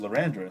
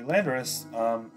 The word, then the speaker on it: Landorus: Well, it's actually not pronounced Lorandorus, surprisingly. But hey, new thing every day. Anyway, the Landorus, Earth Power there.